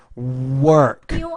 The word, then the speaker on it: work: use the word work you have to pronounce that more got to round your lips there work and do study Al